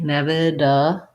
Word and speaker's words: inevitable: In ev, this T, flap T. So think of it as a D. Inevitable.